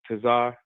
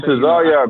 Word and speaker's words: Tesar: name uh but Captain Tazar. Um I've been see Yes, I've came across him um you know quite a few times on YouTube. Captain Tesar, man, say my name right.